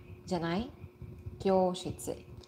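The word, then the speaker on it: きょうしつ: If you see a line above a letter in a romaji, in a certain romaji, Romaji is Roman alphabet, means you should pronounce it longer than normal. So, additional one vowel.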